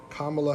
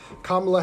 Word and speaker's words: Kamala: okay thank you thank you for the correction kamala harris i know i was saying it right and i said it wrong yikes kamala harris yes so i don't i'm not a